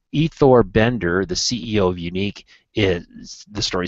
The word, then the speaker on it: UNYQ: this event is called unique it's spelled It's Kind of a Funny spelling here it's unyq pronounced unique 3D printed prosthetic covers